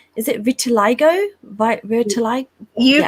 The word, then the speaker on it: vitiligo: Vitiligo? You pronounced it perfectly.